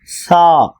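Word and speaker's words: ث: பா பா தா தா சா நாக்கை வெளியே கொண்டுவந்து மேல் பறக்கில் வைத்து சா ஜீம் ஜீம் ஹா ஹா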